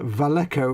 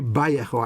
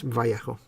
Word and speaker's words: Vallejo: little wedge which uh that's pronounced uh valecko right fox says peter davey yeah yeah it should be by echo actually but it's vallejo technically it should be ba not va oh my cutters with